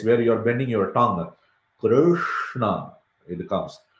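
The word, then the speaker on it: कृष्ण: Krishna, it comes. Your tongue is like this, right? Krishna, Krishna. So everything goes to the same place to pronounce that.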